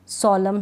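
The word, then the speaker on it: solemn: नहीं करूंगी नहीं पढ़ूंगी अब यहां पर कॉलम है एन नहीं पढ़ा जा रहा सोलम है एन नहीं पढ़ा जा रहा डैम है इसमें भी एन नहीं पढ़ा जा रहा मतलब कि लास्ट में स्पेलिंग के लास्ट में एम एन होता है तो एन का उच्चारण नहीं होता आपको यह नियम भी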